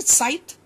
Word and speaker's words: scythe: You know the scythe?